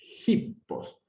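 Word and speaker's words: ἵππος: El espíritu áspero, que es para el otro lado, que es como un apóstrofo al revés, se pronuncia como la H inglesa o alemana. Hippos.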